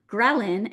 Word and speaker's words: ghrelin: Ghrelin, and I remember from college when we're learning all these hormones for the first time, ghrelin has that grr sound at the beginning. So grr, like your stomach's growling, is what we call the hunger hormone.